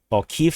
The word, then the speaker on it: Kyiv: get through to the Kiev city, or Kyiv city, depending on you want the Russian or the Ukrainian pronunciation.